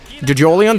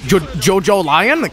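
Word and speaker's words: JoJolion: Jojolian? That's not how it's pronounced. Jojo Lion?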